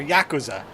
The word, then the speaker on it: Yakuza: Or Yakuza.